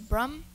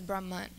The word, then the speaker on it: Brahman: reality it is sometimes pronounced as Brum and sometimes as Brahman as you may have